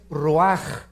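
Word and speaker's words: רוח: hebreo es nepe y la palabra espíritu es ruaj se escribe ruach entonces vemos aquí dos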